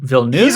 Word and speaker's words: Villeneuve: I think it's Denis He's Villeneuve.